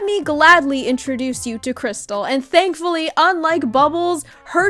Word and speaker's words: Crystal: My name is Crystal.